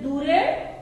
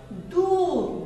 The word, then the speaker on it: দূর: আর এতক্ষণে সে মনে মনে খুঁজেও বের করেছে যে দূরে দীর্ঘকাল রয়েছে আর রয়েছে সূর্যে। দূর দূর ডকে দয়ের উচ্চারণ উ এর জন্য একটু জোর দিতে হয়, চাপ দিতে হয়।